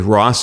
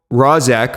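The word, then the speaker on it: Rozek: Definitely go back and listen to episode five with Rosac, who I'm sorry I butchered your name, I think on the the actual episode last week, but it's Ros of local Local Visibility System.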